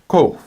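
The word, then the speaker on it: קוף: After this, we have kof, kof. Now notice this is not kof like a K, but kof like a Q. It's a bit farther back in the throat.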